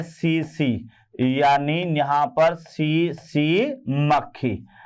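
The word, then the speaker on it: tsetse: और इसका जो वाहक है इसका जो वाहक है ये है सीसी यानी यहां पर सीसी मक्खी सीसी मक्खी है ना तो ये यहां पर याद रखना बेटे टी साइलेंट है सीसी मक्खी जिसका जूलॉजिकल नेम है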